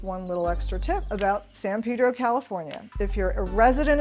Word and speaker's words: San Pedro: Most people coming into the area call it San Pedro, which is the correct pronunciation, but for locals, it is San Pedro.